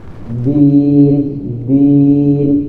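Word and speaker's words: الدين: Din din jangan din atau din ke atas lisan maulana. Ujung nisah nempel ke akar gigi seri atas. Da da da du lain da da dada dan itu kaidah bahasa kita. Jadi huruf dal itu lain de di dalam bahasa kita.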